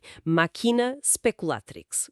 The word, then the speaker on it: Machina Speculatrix: Atenção à pronúncia. Ela tem Maquina speculatrix.